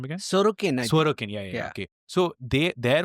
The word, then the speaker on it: Sorokin: Sorokin.